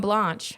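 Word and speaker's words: Blanche: Outlander that referenced Leon Blanch inspiring. That's not how you say it. How do you say it? Blanch.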